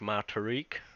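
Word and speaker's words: T'ruck: Yeah, my truck spelled with the truck is T apostrophe RUCK. It sounds like my Tariq.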